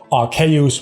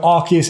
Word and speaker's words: Arceus: It should be Arceus, but we changed it into Arceus, right? And some people say, Arceus, which is fine as well. I do make a mental commitment to say Arceus rather than Arceus, but I chose that. I chose the fact that I wanted to say it Arceus because I feel like it makes more sense.